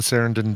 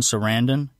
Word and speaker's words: Sarandon: I didn't realize that uh he and Susan Sarandon didn't didn't get married that they were uh